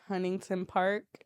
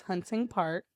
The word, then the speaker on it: Hunting Park: not be it but everyone calls it Huntington Park and it's Hunting Park yes um why ises